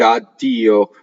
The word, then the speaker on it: addio: People used to just spell it. You'll see it in old books. You see it in old libretto. Addio, just with one D. Everybody said addio, doubled it, and then became spelled addio, right?